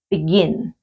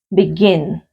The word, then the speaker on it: begin: o begin lo pronuncio begin begin entonces tiene la entonación la mayor fuerza de voz si también en la última sílaba en el verbo comenzar